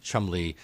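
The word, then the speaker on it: Cholmondeley: mouths l which are Chumlee looks like it's troll Mon Delhi and mousey looks like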